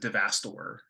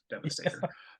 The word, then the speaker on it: Devastator: The guy that said Devastor instead of Devastator, and mispronounced the word Astro somehow.